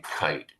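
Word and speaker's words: Kight: And I've really been inspired by a body of work by a brilliant attorney named Rod Kite, K-I-G-H-T, rhymes with light.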